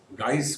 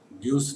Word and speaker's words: guise: गाइस, गाइस का मतलब यहाँ इसको गाइस पढ़ेंगे, ग्यूस नहीं पढ़ेंगे।